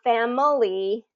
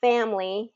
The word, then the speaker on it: family: words like family so it's not family it's family and like um what